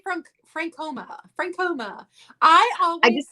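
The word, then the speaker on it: Frankoma: have to concentrate now francoma pottery but i always call it franken noma oh i say from frank homer francoma i just call it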